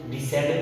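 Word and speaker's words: descend: Science में सी एस के बाद आ रहा है, इसीलिए यहाँ पे सी साइलेंट हो गया। इसको साइंस पढ़ेंगे, उसी इसको सीजर्स पढ़ेंगे, इसको डिसेंड पढ़ेंगे, इसको फैसिनेट पढ़ेंगे, इसको सेल पढ़ेंगे, इसे सी पढ़ेंगे।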